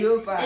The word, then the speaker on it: leopard: Like, leopard. It sounds like leotard, but leopard.